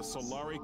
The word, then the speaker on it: Solari: the territory of the Solari concord without permission so that's how you actually pronounce it the Solaria Concord you will never have